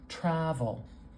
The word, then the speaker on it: travel: This vowel is a little stretched out. This tra part is kind of loud. I'm going to put our primary stress marker right before that first symbol in that syllable. Travel. There we have the stress. We know that the stress isn't going to be at the end because that schwa, the schwa is too weak to carry a stress symbol.